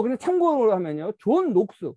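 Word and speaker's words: Knox: 그래서 이러한 사고가 영국에서 18세기 정도에 번성할 수 있었던 게 뭐냐면 뭐 그냥 참고로 하면요, 존 녹스, 뭐 장 녹스라고도 발음하는데 정 녹스라고 하는 스코틀랜드 분이 유럽에서 켈빈주의를 받아들이면서 영국에 와서 이제 켈빈주의를 전파하죠.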